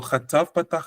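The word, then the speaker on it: חטף פתח: Sometimes some people pronounce it almost like an O, but it's actually an A sound. But it's a shorter A sound.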